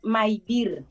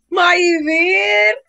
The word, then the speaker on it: Mayvir: error cómo lo pronuncias Mi nombre es mair mair mi nombre venezolanos compon su nombre con su mamá y su papá mi mamá se llama María y Virgilio my My Yo también